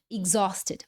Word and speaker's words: exhausted: Esse H aqui é mudo. Esse X vai ter o som de ig, ig, g, g, g. Sabe o G de goiaba? G, g, ig, e depois o Z. Exhausted, alright?